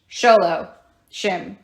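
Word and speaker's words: shloshim: not daylight all right morning period in the Jewish faith is shohim all right remember that guys s h o l o shim if that helps you remember okay 30-day morning period sholo shim sholo shim if sholo shim there you go sholim remember that even if it's butchering it like I just did and you can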